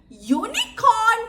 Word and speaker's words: unicorn: මෙතනදී අපි යුනිකෝන් කියනකොට ශබ්දේ U.